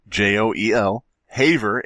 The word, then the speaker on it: Haver: for everybody listening joel j-o-e-l-haver h-a-v-e-r like you have something on how you spell it it's h a v r e joel haver like a haver like you have something um what was it